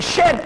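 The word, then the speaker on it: Djed: The Jed pillar. The real way it is pronounced by the Egyptians was the Shed pillar.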